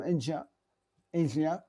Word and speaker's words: Aja: Et si ça vous intéresse d'en savoir un peu plus sur Steely Dan, vous aimez vraiment le jazz, allez voir l'album Asia, qui s'écrit AJA, qui est un album magistral, qui est considéré comme généralement leur meilleur album.